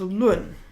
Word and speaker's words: 论: For all its other meanings, this is pronounced lun.